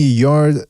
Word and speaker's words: Yarde: He says, Yarde, the E is silent, not Yarde.